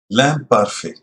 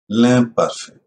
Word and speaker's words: l'imparfait: लैम पारफे उच्चारण एदा लैम पारफे।